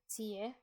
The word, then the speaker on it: tio: Nio and tio are often pronounced nie, tie.